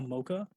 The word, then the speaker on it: Mocha: first apps name a mocha mocha yes e mo CH a is like the chocolate muchas muchas because I love chocolates but it's a mocha the way you pronounce it right okay thanks and